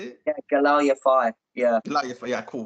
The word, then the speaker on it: Galal Yafai: Yeah, Galal Yafai.